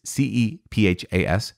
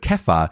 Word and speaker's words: Cephas: i don't like stephen sifus sounds stupid i'm sorry i just i just don't like it but kepha sounds actually more uh close to what it would be called in hebrew or aramaic in those mediterranean languages